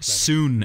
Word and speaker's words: Sun: But this is based on the two sons of the Sun family, so S-O-N-S of the S-U-N family, or Soon as it's pronounced in the thing, but it's the brother's son.